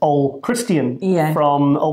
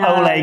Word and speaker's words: Ole: And because I keep going to say Ole, but it's not Ole because it's no accent. It's Norwegian. It's pronounced Ole. At home, away from the cameras, we say Ole. Ole. Yes, even though he's Norwegian, nowhere near Spain.